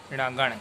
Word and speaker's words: णगण: णगण क्या कहेंगे? णगण। ये टवर्गी न है, आप लोग इसका उच्चारण समझ रहे होंगे।